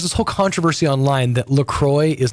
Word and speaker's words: La Croix: Okay, so there's this whole controversy online that LaCroix is not called LaCroix.